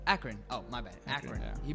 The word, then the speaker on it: Akron: yeah it is that's how you say it akron akron oh my bad yeah he both he built